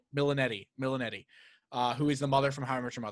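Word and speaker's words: Milioti: I looked up her name so I could pronounce it for this thing. Milanetti. Milanetti.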